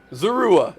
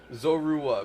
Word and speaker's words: Zorua: Zurua. Zerua. Dude, I fre those names are always gonna going to kill me, man. Zorua.